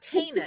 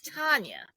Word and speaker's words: Tanya: Yeah, and I'm like, it's not Tana, it's Tanya.